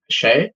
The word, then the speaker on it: Xie: Uh my name is Shay. Uh last name is spelled XIE.